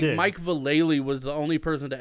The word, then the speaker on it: Vallely: It's Vallely.